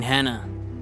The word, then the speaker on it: Hannah: I mean Hannah, with an H.